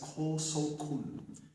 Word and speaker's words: Kosokun: He was a Chinese ambassador sent to Okinawa by the Chinese imperial government His Chinese name was Huang Shangfu, pronounced by the Okinawans as Kushanku, read by the Japanese as Kosokun.